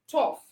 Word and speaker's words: tough: Yes, we already, okay, we talked about a PH, phone, we talk about GH, tough, we talk about F as in fish.